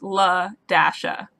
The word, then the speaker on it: LaDasha: It's La Dasha, so the dash is like pronounced like dash.